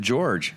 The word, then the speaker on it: Jorge: I am sitting here with my co-hosts tonight, Logan the talker and George. It's spelled Jorge.